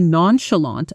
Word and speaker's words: nonchalant: She stayed remarkably nonchalant about the delayed flight while everyone else panicked. Pronunciation: nän-shə-länt nonchalant.